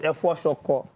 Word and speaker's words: efo shoko: So it is Efo shoko. Not green vegetable, no, Efo shoko.